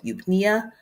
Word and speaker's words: eupnea: A patient with a respiratory rate of 8 breaths per minute is experiencing, is it A, hypoventilation, B, hyperventilation, C, the E is silent, so eupnea, or D, tachypnea?